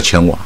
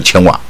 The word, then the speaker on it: 瓩: ，就是叫千瓦，而且一个字，但是它念两个音，叫千瓦啊。